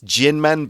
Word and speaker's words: Jinmen: I'm never sure how to say it. It's Jinmen, but the K in that type of kind of like pinyin.